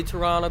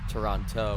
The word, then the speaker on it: Toronto: I say Toronto because that's actually how you pronounce it, but I've heard a lot of other people say Toronto with a non-silent second T.